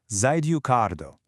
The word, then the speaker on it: 在留カード: In Japanese, it's called the Zidukardo, pronounced Zidukardo.